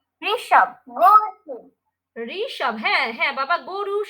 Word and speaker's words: ঋ: সানভী বলতো মা সানভী অডিও খুলে বলো মা ঋতু ঋষি ঋষি ঋষব থ্যাঙ্ক ইউ ফাতেমা হাত তুলেই